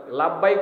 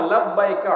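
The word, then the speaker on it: لبيك: লাভবাইক তো বলতে পারে না, লাভবাইক আল্লাহুম্মা লাভবাইক এভাবে উচ্চারণ করে, তালবিয়া পড়তে পারে না। তালবিয়াটা জানে না অনেকে। আপনি যখন ইহরাম পড়লেন, ইহরাম পরে আপনি নিয়ত করলেন আল্লাহুম্মা লাব্বাইকা উমরা অথবা হাজ্জান, যেটাই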